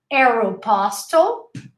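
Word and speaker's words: Aéropostale: mac mcdonald's uh aeropostale remember we learned arrow arrow pastel pioneer double usually has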